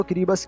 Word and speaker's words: Kiribati: तो अगर किरीबतीस लैंग्वेज की बात की जाए तो इसकी अल्फ़ाबेट में TI को S प्रोनाउंसिएशन किया जाता है। बस यही कारण है यहाँ पे किरीबाती की जगह किरीबस कहा जाता है।